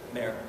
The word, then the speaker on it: Meyer: Is it pronounced Meyer or Meyer? Mayor.